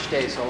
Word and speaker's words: Shtasel: SHTASEL: May it please the Court, my name is Shtasel. And together with my co-counsel Deval Patrick-- NATHANIEL JONES: What's the pronunciation of your name, sir?